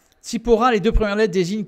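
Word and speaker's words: צִפּוֹרָה: une femme qui s'appelait sephora ou sipora si on veut prononcer en hébreu sipora les deux premières lettres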